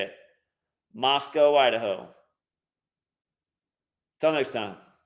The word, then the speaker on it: Moscow: is the real right way to say it Moscow Idaho until next time